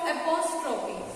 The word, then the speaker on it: apostrophe: Here is the spelling of apostrophe. See the spelling? A-P-O-S-T-R-O-P-H-E mark. Apostrophe mark. So this is the pronunciation apostrophe mark.